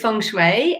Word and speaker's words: Feng Shui: So the way I say it is Feng Shui, and that's how I've been taught.